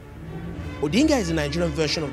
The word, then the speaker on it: Odinga: been asked to explain why Bears one name pronounced twice yeah I'm called odinga with Inga because he's a family name and